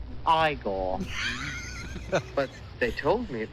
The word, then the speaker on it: Igor: let's go talk to him you must be igor no it's pronounced igor but they told me it was eagle well